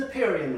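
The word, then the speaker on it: Napierian: Actually, the proper pronunciation for this, natural logs, not quite. It's an Neperian log, okay?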